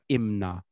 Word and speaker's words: Imna: of these is called imna so that's the korean pronunciation and the japanese pronunciation